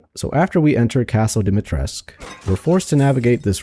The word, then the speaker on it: Dimitrescu: Actually, I think it's Dimitrescu or Dimitrescu in Romanian. But I'm going to say it without the U. Dimitrescu. So, after we enter Castle Dimitrescu, we're forced to navigate